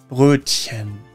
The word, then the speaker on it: Brötchen: Again, think of the I in bird, and also the chen at the end is not a hard K sound. It's soft, almost whispered. Chen. Brötchen.